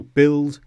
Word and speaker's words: build: Secondly, sometimes when you have U before I, you don't pronounce the U. For example, build, biscuit, disguise and guitar.